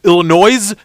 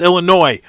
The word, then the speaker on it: Illinois: city of Illinois this the S is silent damn it sick when I hate it when people do that sick of people Illinois no it's Illinois uh but today in